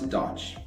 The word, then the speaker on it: DOGE: from USA what is Dodge though it rhymes with the automobile brand Dodge which is from Michigan's